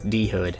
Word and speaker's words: Dhood: game up on YouTube and learned the developer dhood Productions pronounced dhood not dude with an H in the middle of it